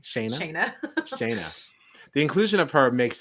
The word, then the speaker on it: Shanna: How did she say it? I originally thought Shanna, but I feel like I heard Julie say Shayna. Shayna. That's what it was.